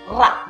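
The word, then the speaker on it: Rahajeng: Ra itu dibacanya R-nya keras. Ra yang paling keras. Ra.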